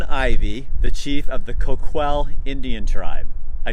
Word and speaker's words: Coquille: is Chief Don Ivy the chief of the Koch well Indian tribe I said it right you did